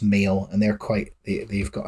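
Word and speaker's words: Maol: they band called male which is m h a o l with a with the H and brackets but I think it's pronounced male and they're quite they've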